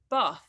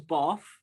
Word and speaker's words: Bath: probably wrong both ways i say sometimes bath but like with an f and then sometimes the